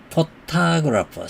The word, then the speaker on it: photographer: photographer. 사진작가라 할 때 photographer는 이 오해가 액센트가 있습니다. photographer. 그런데 작가가 아니고 ER 빼버리고 photograph. 사진만 얘기할 때는 photograph만 얘기할 때는 맨 앞에 음절에 액센트가 있어요. photograph, photograph, photographer, photograph, photographer 이렇게요.